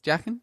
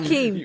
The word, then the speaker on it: Joaquin: It's Yakin, isn't it? Huh? It's Jackin. Yeah, you're keen. Yakin. How do Jackin. how do I pronounce his name correctly? Jackin. I say it wrong. Joaquin.